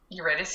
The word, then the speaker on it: Eurydice: Eurydice?